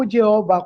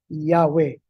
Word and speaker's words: Yahweh: yung jhvh naging jehov pero ayon sa maraming mga scholars ang tama pong bikas ay hindi po jehova kundi yahwe.